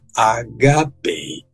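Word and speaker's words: ἀγάπη: perguntando sobre amor HP a pronúncia é HP a sílaba a penúltima sílaba leva a acentuação porque essa palavra termina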